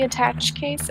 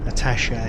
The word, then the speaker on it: attaché: Attache case is how we pronounce that. Attache case. Yeah. Yeah. American. We say attache. No, I don't know. Yeah. I've pronounced it attache my whole life. I believe it's a French word, attaché.